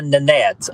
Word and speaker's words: Nanette: All right, so here the second name, you said the correct way to say my name. So it is Nanette.